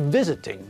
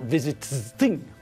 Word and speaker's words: visiting: syllables but again the stress is on the first part of the word not the last part so when we add ing to visit it changes to visiting not visiting remember has got three syllables